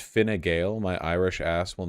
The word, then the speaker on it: Fine Gael: Seriously, it's pronounced Fine Gael.